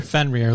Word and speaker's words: Fenrir: So then you have how do you pronounce the next one? Fenrir? Fenrir.